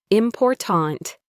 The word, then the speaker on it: important: In a word like important, the stress is on the second syllable, important.